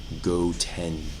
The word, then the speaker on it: Goten: Goten.